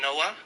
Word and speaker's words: Noah: I mean the H is kind of silent, isn't it? Yeah. The Noah.